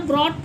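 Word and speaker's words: brought: तो यहां पर आप ब्रॉड पढ़ते हैं इसको। जी एच टी जी H silent होता है। ट की आवाज निकालता है।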